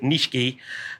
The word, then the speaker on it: nishiki: uh with japanese plants when you see that nishiki looks like nishiki but pronounce it nishiki uh that generally means